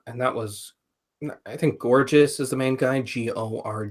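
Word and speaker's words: Gorgias: if it's true okay gorgeous was the guy's name mm-hmm that's how you pronounce it gorgeous gorgeous like gorgeous beautiful gorgeous gorgeous for now it's pronounced like gorgeous like the word I'm not all right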